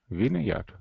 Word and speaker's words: vineyard: How would we normally pronounce this word? Vine. Vine. Yeah. Vine leaves, for example. Vine leaves. Yeah. But here there's an exception. Vineyard.